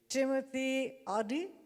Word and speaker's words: Timotheadi: to ask you again that i'm pronouncing your name correctly timothy adi okay wonderful it's a private banker